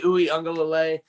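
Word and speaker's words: Uiagalelei: mentioned before dj ukulele because i can't pronounce his last name knights it's dj ooey unga lalay the guy is basically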